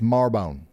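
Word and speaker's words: Marrowbone: How do you say that? Wrong. It's Marbone.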